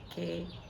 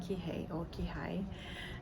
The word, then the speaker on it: Kihei: I'm still in Maui, but in a place called Kihei, or am I pronouncing it correctly? Is it Kihei? Anyway, K-I-H-E-I, Kihei, Kihei.